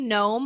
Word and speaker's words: gnome: on i am knowie gnome on almost everything um it surprises me people misspell gnome all the time so there is that silent g n-o-e-y-g-n-o-m-e and that is